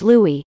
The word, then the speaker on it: Louis: social stature they were lewis nye first name pronounced louis was a master at